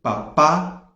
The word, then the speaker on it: papá: Então, papa não tem acento. E papá tem acento na última sílaba.